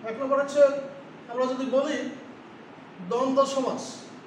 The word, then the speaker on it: দ্বন্দ্ব: এক নম্বর হচ্ছে আমরা যদি বলি দ্বন্দ্ব সমাস।